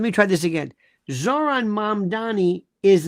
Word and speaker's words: Mamdani: Zohran Mamdani is not, and by the way, nobody pronounces his name. There are people I know, they call him Mamdani.